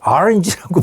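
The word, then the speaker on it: orange: 오렌지를 이분이 원어 발음에 가깝게 한다고 RNG라고 발음을 했는데 이게 난리가 난 겁니다.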